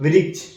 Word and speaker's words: वृक्ष: क ल प ब र, ये हम लोग ब र लिखे हैं, लेकिन व पढ़ेंगे, ब को हम लोग व लिखकर भी ब पढ़ते हैं सेंटेंस अपना मिलाने के लिए। ठीक है, तो ब र क स, बरकस लिखा हुआ है, वृक्ष पढ़ेंगे।